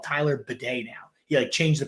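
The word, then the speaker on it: Tyler Badie: want to be called Tyler Bidet now. He changed the pronunciation of his name. If you want to be called with the thing that cleans your butthole, go for it, Tyler Bidet.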